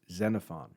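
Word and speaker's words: Xenophon: BC philosophy ER named zenfon his name is spelled with an X and pronounced zenfon he lived uh during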